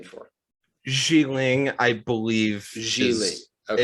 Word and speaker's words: Xialing: Xiling, I believe. Xiling. Okay. It's Xialing. Okay. Xiling. Xiling, I believe, is the correct pronunciation.